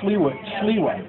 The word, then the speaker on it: Sliwa: Curtis Sliwa. I did pronounce it correctly.